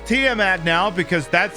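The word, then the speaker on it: Tiamat: matched and i pray and i learned it's pronounced tmat now because that's how it was pronounced in the game that's named up there that not allowed the drop spoilers from it's apparently team at i've been pronouncing it wrong my whole [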